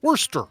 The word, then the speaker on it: Worcester: you're playing for Nick d'arico in Worcester Mass Worster oh it's better Mast or Worcester did you say you want to pronounce it worse what was his name again